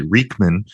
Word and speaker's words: Reichmann: to the show reichmann thanks Joanne yeah it's close enough and you you definitely use the most common pronunciation we uh we go by the German pronunciation which is actually Rickman but close enough and